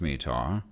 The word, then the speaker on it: METAR: TAF TAF terminal aerodrome forecasts respectively m-80a are pronounced METAR as in Ujjain observations are taken hourly at